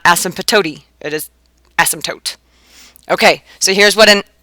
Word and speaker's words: asymptote: in p t te and you know how you say it asymptotes feel free say it if you want to it's just fun to say asymptotes so you don't hear the P it's not like asymptotes